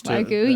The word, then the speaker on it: Wagyu: And they're experimenting with genetics and crossing, I don't know how to say it, Wagyu cattle, I guess. Wagyu, yes.